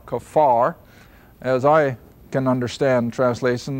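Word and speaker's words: kaphar: in the English and the Hebrew pronunciation is more or less k a w f a r kafar as I can understand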